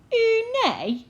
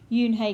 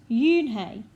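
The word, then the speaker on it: Unhei: hey said yoon hey ooh nay the girl asked scrunching up her face some kids chanted no no yoon hey corrected it's spelled u-n-h-e-i it's pronounced yoon hey oh it's you hey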